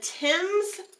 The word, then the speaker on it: Thames: into Canada and at the Battle of the Thames River and that is how that's pronounced believe it or not it looks like things at the Battle of the Thames River Harrison was able to defeat a combined